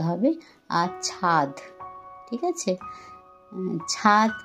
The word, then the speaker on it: ছাদ: আর ছাদ, ঠিক আছে, ছাদ কথাটা উচ্চারণ করতে গেলে অনেক সময় দয়ের জায়গায় ত এসে যায়, ছাদ, সেটা একটু খেয়াল রাখতে হবে।